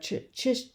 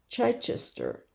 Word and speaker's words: Chichester: Richard of Chai Chichester.